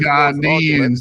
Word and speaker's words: Ghanaians: Ghanaians. That's how you say it. The proper way to say it, Ghanaians.